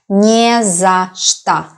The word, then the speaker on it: не за что: 3 words here and they are pronounced quite fast and it sounds like one word. Не за что.